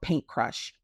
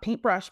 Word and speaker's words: Paint Crush: brand, which is called Paint Crush. Not Paintbrush, Paint Crush.